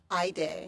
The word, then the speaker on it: Hayde: with you okay now you spell your name h a yde x mark on the E and it's pronounced I day I day I day